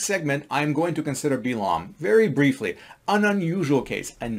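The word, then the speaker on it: בלעם: Balaam, or Bilam as he's pronounced in Hebrew, or Balaam as he's pronounced in English, he is a very unusual case.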